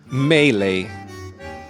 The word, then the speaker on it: mêlée: I think it's even French, like mêlée, la mêlée in rugby. So maybe it's totally different, but then I'll say mêlée. Melee.